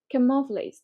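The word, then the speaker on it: camouflage: এবং কখনো ক্যা কয়ের উচ্চারণ করবা না। নেটিভ ইংলিশে ক্যা বা কয়ের উচ্চারণ হয় না। কিভাবে? খা, খা, একটুখানি খা, একটু সামনের দিক থেকে খ এবং কয়ের মাঝামাঝি উচ্চারণটা হয়।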